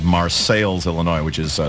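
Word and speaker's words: Marseilles: coal mining town in Central Illinois uh called marceles Illinois which is spelled exactly like Marse France but since it's in Central Illinois is pronounced marceles and it's and it's the uh you know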